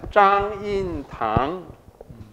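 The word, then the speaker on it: 張蔭棠: Yeah, in Mandarin it's pronounced as Zhang Yin Tang.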